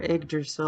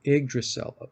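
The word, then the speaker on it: Yggdrasil: it's either that or igdrasil I I believe it's the Y is pronounced like an i oh igdrasil igil okay and I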